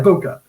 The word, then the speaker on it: bokeh: and it lets you get that like, it's bokeh. I don't know exactly how to pronounce it. Yeah, bokeh.